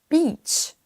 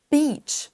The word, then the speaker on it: beach: Attention également à ce mot-là qui se prononce avec un i long. Beach. Beach. Vous entendez que je traîne un petit peu.